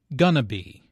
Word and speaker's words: going to be: Notice how this is pronounced like gonna be. Instead of 4 syllables, going to be, there are 3 syllables, gonna be.